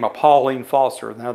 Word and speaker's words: Pauline: by the name of Pauline Foster. Now, back in those days, they pronounced it Pearline.